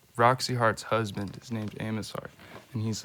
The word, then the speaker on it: Amos Heart: Kendall Luan hello and my name is Amos har spelled with an A and an m an O and an S and then the word heart and uh it's a